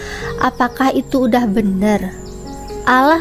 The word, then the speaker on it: Allah: diganti oleh LAI menjadi Allah, apakah itu udah benar? Allah loh ya, bukan Allah. Bahasa apa ya itu Allah? Kalau misalnya mau niru orang Islam, kok nggak sekalian aja nyebutnya Allah? Ya, di situ intinya Mbak